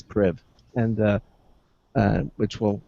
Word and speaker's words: Priv: with the blackberry then the priv uh is pronounced priv or private i guess it's priv and uh uh which